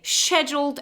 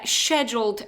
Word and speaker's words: scheduled: And in business English, we usually say they arranged a team meeting or they scheduled a team meeting. Remember, scheduled is the British pronunciation, scheduled is the American one.